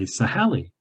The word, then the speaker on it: Sahali: some of you may have encountered this is pronounced in Kamloops, they say Sahali.